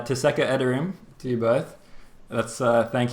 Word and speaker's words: Teşekkür ederim: I'm going to try and say Teşekkür ederim to you both. That's thank you in Turkish. Is my pronunciation correct? Yeah, Alright. it's nice. Very nice. Teşekkür, is that right? Just Teşekkür yes. ederim. Teşekkür ederim.